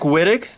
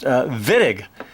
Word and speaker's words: Wittig: spelled with a WWI T TIG looks like Witek but it's pronounced villag german chemist by the name of george villag